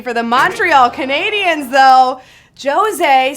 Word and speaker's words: José: the Montreal Canadiens though josée spelled like Jose but you know just set a little different NHL of course 4732